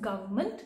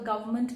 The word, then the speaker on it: government: the correct spelling of government which is geo ve R and M ent whereas once I mean we are pronouncing it it is the N is silent right so maybe because